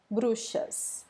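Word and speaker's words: bruxas: them br brues brues so this x here sounds just like sh brues brushes and how can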